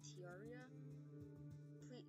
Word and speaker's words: Terraria: How you pronounce it? Terraria.